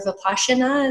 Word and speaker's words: Vipassana: because I had done the Vipassana, or Vipassana as they want me to pronounce it, where you go 10 days and you're in silence.